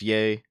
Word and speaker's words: Ye: done we already did yay is pronounced yay pull Aiden into the